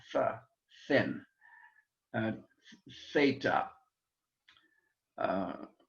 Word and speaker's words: theta: thin uh theta uh unless you're learning greek and germany in which case you would say zeta and not theta because i think in germany because they can't say th sounds they learn it as an s sound but greek speak at